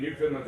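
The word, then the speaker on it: Newfoundland: no relationship I mean new finland's actually SP new found land so it was the new land that was found okay that's how it's spelled but Canadians actually pronounce it New Finland it's just funny Canadian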